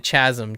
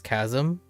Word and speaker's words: chasm: I've ever heard was like Chad and then Chazm. Chazm happens all the like Chazm is still fairly common and it's whenever people uh play fantasy games. It's not because they don't know this is chasm is because after a while you're like chair